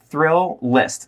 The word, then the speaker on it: Thrillist: It's Thrillist, like a roller coaster thrill, and you're writing a list.